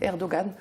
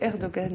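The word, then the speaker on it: Erdoğan: réserve, hein, et ensuite, bon, c'est Erdogan. Je sais que je l'ai déjà entendu, c'est Erdogan, et c'est important peut-être de le prononcer correctement.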